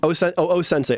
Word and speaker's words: O-sensei: O-sensei. O. And then sensei. Apostrophe sensei.